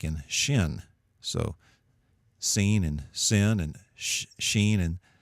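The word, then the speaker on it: שׂין: similar the first is seen and it's pronounced with an S sound like in sin and I put that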